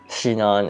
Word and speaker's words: Shinon: Because, fun fact, in Japanese, there isn't really a singular S sound. The closest you get for, like, Shinon is basically, or Sinon is basically Shinon, so that's how they say it.